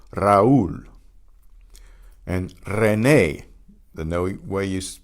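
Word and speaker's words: Raúl: Notice the accent on the U. That's how you know it's a separate syllable. Raul.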